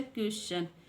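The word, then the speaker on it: question: दूसरा एग्जांपल देखते हैं यदि शब्द में एस के बाद टी आई ओ एन आए या टी के बाद यू आर ई आए तो टी का उच्चारण च होता है टी का उच्चारण क्या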